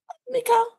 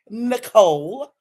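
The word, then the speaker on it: Neco: Nico and it's N E C O. It is not pronounced Nicole.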